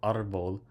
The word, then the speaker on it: árbol: It ends with L, so the stress should fall on the last syllable, vol, but it falls on the R, so we put the accent on the A.